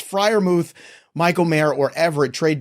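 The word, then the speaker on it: Freiermuth: be so mad because not only did he spell Fri moth wrong I can't imagine he's gonna say it right but it's Fri moth Michael May or Everett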